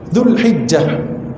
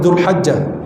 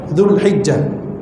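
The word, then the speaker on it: ذو الحجة: Dzulhijjah, bukan Dzulhajjah, Dzulhijjah.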